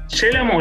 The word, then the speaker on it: Yélamo: Estamos con Yélamo. ¿Lo dije bien o lo dije Sí, mal? sí, con acento en la E.